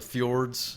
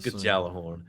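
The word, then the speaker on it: Gjallarhorn: a uh exotic rocket launcher it's like the fjords it's not fjords it's the fjords Galah horn Galah horn yeah it's gal jalapeno horn um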